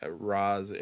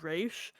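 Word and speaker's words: Ra's: and the name it the Arabic pronunciation would be closer to Ras so like technically both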